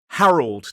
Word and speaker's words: Harold: Harold. 2 syllables, stress on the first.